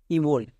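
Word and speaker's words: -ible: যেমন IBLE, ইবল, একে আমরা ইবল বলবো না, একে আমরা বলবো ইবেল, ইবেল।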